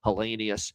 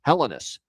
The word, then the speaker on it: Helenius: And all of a sudden, for some reason here in Buffalo, Consta, wants it as Helenus. So, it's Consta Helenus here. So, I don't know, man. Same spelling but different pronunciation.